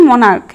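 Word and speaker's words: monarch: সি এইচ আছে এবং এই সিএইচ এর উচ্চারণ ক হচ্ছে কারণ আমরা উচ্চারণ করছি মনার্ক মরাজ নয় তাই এই শব্দটি শেষে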